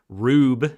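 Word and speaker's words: R/B: still working through ultraman rube it's how they pronounce it in the show but it's spelled r slash b uh it's not spelled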